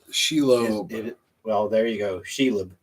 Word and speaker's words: Shelob: Oh, Chad said Shelib. Nope. That's it, but the wrong pronunciation. Well, I'm not saying it right. Shelib is how he spelled it, but Shelob.